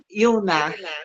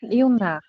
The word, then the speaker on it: Ioná: Então, o seu nome se pronuncia Ilná. Ioná. Ilná. Tá bom. Eu falava com outra tônica, agora eu aprendi direitinho.